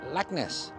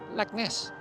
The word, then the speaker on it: Leknes: are, which is pronounced Leknes, Leknes, a bit like Loch Ness, Leknes.